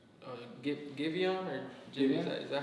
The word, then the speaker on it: Giveon: Like new, I would say Giveon or Jimmy. Is that how you say it? Giveon.